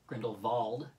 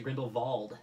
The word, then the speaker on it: Grindelwald: Grindelwald, for anybody who thought it was Grindelwald. That's what I thought it was. Yeah, no, they pronounce it Grindelwald in numerous scenes, so I guess it's like...